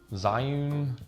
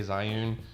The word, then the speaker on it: Zhiyun: stuff i've got a zhiyun june i don't know people pronounce it differently i say zyun but it's the weeble